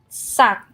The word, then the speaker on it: สัก: But the second word sak you get low tone because it's dead syllable, no tone marker, and high class consonant.